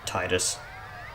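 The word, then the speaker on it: Tidus: you there you idiot Titus or tetus however you want to pronounce it it's technically pronounced tetus that's how Walker pronounced it and if you disagree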